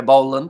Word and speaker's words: Boland: we have got there Boland is how you pronounce very hard to describe it without you physically hearing it say a bowl part very quickly and also we have